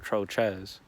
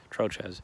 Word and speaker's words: Trochez: just my last name my last name isn't just troll but it's troches or troches or troche depending how you say it but troches so i'll take the